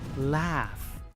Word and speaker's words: laugh: Muchos pronuncian esta palabra loud, pero en esta palabra la EH se pronuncia como F y la U es muda. Laugh.